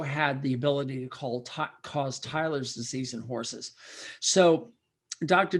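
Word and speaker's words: Theiler's: We were talking about a disease called Tyler's disease, and Tyler's is spelled kind of funny, Theiler''S.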